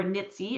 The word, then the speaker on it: NIETC: So those are NIETC or NITSI as we pronounce it.